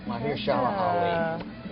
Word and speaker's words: Mahershala Ali: How do you pronounce that? Mahershala Ali.